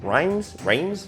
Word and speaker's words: Reims: Reims? Pronunciation here.